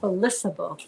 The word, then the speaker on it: Felicitable: Yeah, but it's not a hard C. It's Felicitable. Felicitable beauty. Hard soft C? Soft C. Yes. Like Felicity? Felicity. and Felicitable.